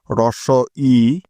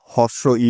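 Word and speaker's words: হ্রস্ব ই: স্বর অ স্বর আ রস ই তাহলে এই বর্ণটির নাম কি রস ই আবার অনেকেই এটাকে হস্ব ই বলে যা হলো ভুল রস ই এটাই হলো এই বর্ণটির সঠিক উচ্চারণ রস ই মনে থাকবে তো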